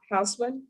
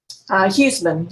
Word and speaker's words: Huseman: State of Texas versus Sarah Hausman. And am I pronouncing her name correctly, defense? Huseman, Your Honor.